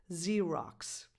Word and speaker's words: Xerox: a regular English verb, you have 2 X's, but they are pronounced in 2 different ways. Xerox.